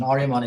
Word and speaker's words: Aaryaman: take this opportunity to connect correct my awful pronunciation no thank you Robert um thank you for that introduction aryaman is is fine most people call me